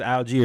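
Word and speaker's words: Allgeier: aler or all guy however you want to pronounce it it's aler as we know had three rushes for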